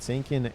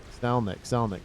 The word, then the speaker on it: Salnik: I've been saying your name wrong. It looked like an I, but it is an L.